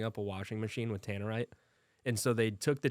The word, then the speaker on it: Tannerite: this Tamarind Tannerite Tanner I think it's t-a-n-e-r-i-t-e i-t Tanner right two two ends two ends Tannerite reflective rifle targets what